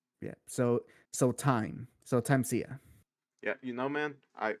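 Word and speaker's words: Thymesia: how is it pronounced it's not pronounced thymusia is pronounced tansia time Sia like yeah like yeah times here because the the root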